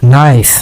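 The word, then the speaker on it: knife: নাইফ, নাইফ মানে কি? ছুরি, ছুরি যা দিয়ে কোনো কিছু কাটা হয়। এই নাইফের খেয়াল করবেন কে এর উচ্চারণ হয় না, আপনারা জানেন।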